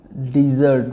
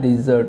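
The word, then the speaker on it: dessert: वो आ जाता है डिज़र्ट में। ये होता है डिज़र्ट। इसको डेजर्ट नहीं आपने प्रोनाउंस करना है because spelling looks so similar but both are different. सो ये है डिज़र्ट।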